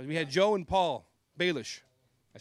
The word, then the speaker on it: Balich: They say Balich, they say Balich, but it's Balich, right?